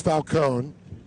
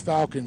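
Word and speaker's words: Falcón: Or as I talked to his mom, because he did say there, in Spanish it's Falcon, and if you Americanize it, it's Falcon.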